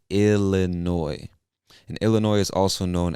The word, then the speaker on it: Illinois: word you'll see that the word ends with an s but we do not pronounce that s it is silent say illinois and illinois is also